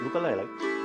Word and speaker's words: ukulele: ukulele and that's how you say it it's ukulele and I also play uh let's see I